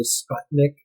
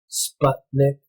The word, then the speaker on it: Sputnik: You ever like it when Americans say Sputnik? Sputnik. It's because they see the short U, but it's a foreign word, so we have to ignore that there's no vowel beyond the consonant or a double vowel to change the sound.